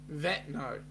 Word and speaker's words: Vanuatu: It's pronounced Vano what? Vanuatu, Vanu, Vanuatu. You got to learn, Larry.